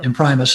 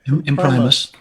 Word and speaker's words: Imprimis: College or imprimis um in Primus is how you say it okay in Primus so every month they